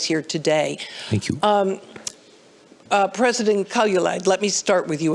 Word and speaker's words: Kaljulaid: Also with us is Kirsty Kaljulaid. Am I saying it correctly? Close enough? Kaljulaid.